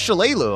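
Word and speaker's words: Shalelu: He was trying to pronounce her name, and I'm like, it's Shalalu.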